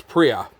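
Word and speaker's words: Priaulx: is just a noise you don't pronounce this l or the x it's just like pre pre-ow so andy priya here he was the 2005 champion for the wtcc wtcc's first inaugural year in 2005.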